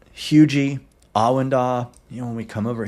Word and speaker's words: Huger: When we get up here into Hugie, yes, it's pronounced Hugie, not Huger.